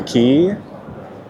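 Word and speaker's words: Quay: So, we just got to Circular Key and yes, that's pronounced key. Q U A Y.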